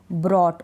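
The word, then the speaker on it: brought: इसमें नहीं पढ़ा जाएगा ऐसे ही ब्रॉट ओ यू के बाद जी एच है नहीं पढ़ा जाएगा ब्रॉट डिलाइट क्या है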